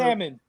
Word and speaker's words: salmon: salmon. He can't even say salmon. He said salmon. Salmon. Like a salamander. Salmon, man. Salmon. It's salmon. It's No, salmon. The salmon. L is silent, bro.